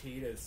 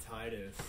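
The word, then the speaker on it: Tidus: finished in full of people going Delta it's pronounced tetus not Titus and you saying okay and ask like show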